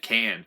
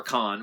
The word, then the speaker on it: Cannes: And it was actually debuted at Cannes, which is or Cannes, whichever you pronounce it, which is kind of bizarre to this movie.